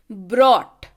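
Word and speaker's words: brought: बॉट है ना, यहाँ पे आर का उच्चारण नहीं है. अगला शब्द देखिए, ब्रॉट. यहाँ पे आर का उच्चारण है.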